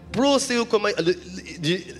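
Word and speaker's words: προσεύχομαι: Et alors que dans le mot grec, c'est, excusez-moi, prosoukomai. C'est ça, hein, docteur, c'est bien ça? J'ai bien prononcé? Proseukomai. On ne va pas le répéter ensemble, mais voilà, c'est ça. Proseukomai.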